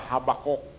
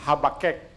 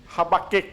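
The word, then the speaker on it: Habakkuk: Bible no, atong pagbasa Habakuk. Pero ang insakto di ay pag-pronounce ana is Habakek. Habakik dahil.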